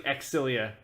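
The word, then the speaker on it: Xillia: so stories of xylophone it's actually exilia but I never want to say it like that I wouldn't call it an xylophone good night everybody d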